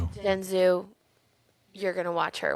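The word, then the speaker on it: Jianzhu: Jen Zoo. Jenzu, you're going to watch her when I'm not around.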